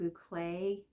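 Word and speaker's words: bouclé: Maven and like I said I made a bouay yarn I had to look that up to make sure I pronounce it right and I've always thought these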